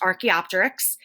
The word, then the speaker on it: Archaeopteryx: trance it's a transitional fossil of something called Archaeopteryx and that spelled down here so it's pronounced Archaeopteryx we call it a trance fossil because it's